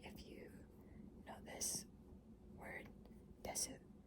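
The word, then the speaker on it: です: Like if you know this word desu, it isn't pronounced desu, it's pronounced des.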